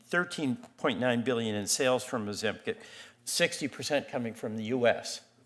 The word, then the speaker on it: Ozempic: Feldman, let's talk about Ozempic. Yeah, am I pronouncing that right?